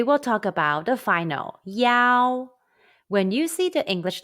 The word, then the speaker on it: yao: an initial or consonant it is spelled as y-a-o and pronounced yao pronunciation exercise for yao sound let's